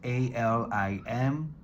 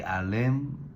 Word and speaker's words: Alim: You spell it as a l i m. Some people say alim, but the way I was taught alim. So pronunciation is a l e e m alim.